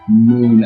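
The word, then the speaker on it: Muun: Moon. I think it's pronounced Moon.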